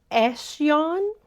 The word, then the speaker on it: Esjan: I'm trying to pronounce it correctly this time. Eshon.